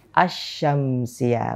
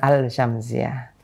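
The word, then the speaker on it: الشمسية: Berarti cara bacanya gimana yang benar? Asy-Syamsiyah, bukan Al-Syamsiyah.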